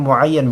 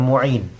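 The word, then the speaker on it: مُعَيَّن: kipas angin yail muayan ini bacanya muayan bukan Muin Walaupun memang F iniin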